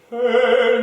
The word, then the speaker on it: que: Quel bien, je frémis quand j'y pense, si son état que la vengeance. Good. Do you, so can you change the vowel on que to more of a schwa?